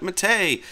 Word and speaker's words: Mate: And yes, I'm pronouncing that correctly because the developers call it Mate. The people who actually developed the Mate desktop have named it after a South American drink called Yerba Mate.